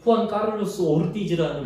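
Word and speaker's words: Juan Carlos Ortiz: 여러분, 옛날에 후안 카를로스 오르티즈라는 목사님, 이게 본토 발음이에요. 남미 본토.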